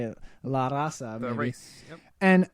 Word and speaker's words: La Raza: La Raza.